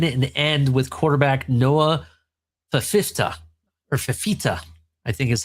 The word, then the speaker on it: Fifita: Fifita. That's how you say it. Fifita.